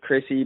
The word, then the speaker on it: Khryssi: Mine is, and hers is Chrissy, but it's spelled KHRYSSI.